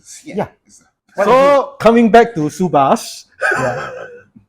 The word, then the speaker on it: Subhas: it's a silent H and a missing H. Oh, wait. He's got one H there that is silent, and then the one that should be sounded It's is missing. not there. Yes. Just move the H, right? Yeah. Then that would be SUBHAS, right?